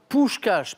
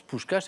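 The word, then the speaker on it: Puskás: bien prononcé par fabiion pou cche parce que ça s'écrit P S K a S mais ça se prononce pou cche effectivement surnommé le major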